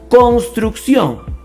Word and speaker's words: construcción: a iniciar la construcción la manera correcta de pronunciar esta palabra es Construcción con acento en la o construcción eso es una